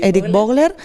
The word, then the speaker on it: Erik Vogler: tenemos a Eric boglers se pronuncia Erik vogler y bueno este tema